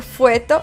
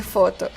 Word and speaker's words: foto: He escuchado personas decir cosas tan divertidas como cuecacuela en lugar de Coca-Cola o decir fueto en lugar de foto.